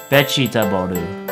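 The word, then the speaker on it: ベジタブル: When we want to represent the English letter V in Japanese, we usually just use the letter B instead. So for example, the English word vegetable will be changed to its Japanese pronunciation vegetaboru.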